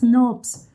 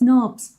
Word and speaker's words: snRNP: So, or you can call them as SNRPs. That's how they are pronounced, SNRPs.